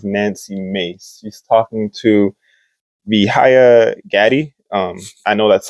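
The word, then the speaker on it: Vijaya Gadde: hearing with representative Nancy mace he's talking to vihaya Gaddy um I know that's how she pronounced it in the video so that's why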